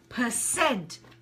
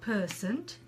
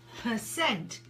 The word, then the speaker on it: percent: Now, don't forget, with percent, the syllable stress is on the last part of the word. So we say percent, not percent, percent.